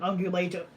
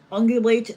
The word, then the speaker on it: ungulate: What's your opinion on ungulate or what the meaning is? Ungulates? Yeah, it's spelled. Yeah, it's one of the words up here. Ungulate. Sounds like ovulate.